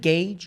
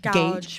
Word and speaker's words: gouge: Is it gauge? Gouge. Gouge. Don't be embarrassed that you didn't know the word. No, it's just Don't be embarrassed that you mispronounced the word.